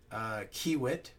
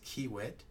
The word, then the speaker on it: Kiewit: Thompson, Robert Price, Kiewit. I apologize. I think I pronounced your name wrong last time. I believe I've been taught that it is Kiewit.